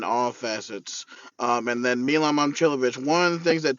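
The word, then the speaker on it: Momčilović: Oh, yeah, so how to say it is Momcilovic. Milan Momcilovic. Thank you for correcting me on that.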